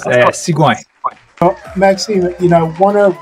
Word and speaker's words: Sigouin: So, ladies and gentlemen, we have on the show, and let me know if I'm pronouncing it correctly, Maxime Sigouin, is it correct? That's close, Sigouin.